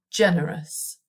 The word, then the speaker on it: generous: about this word generous doesn't look like generous it looks like generous but we pronounce it generous and you might want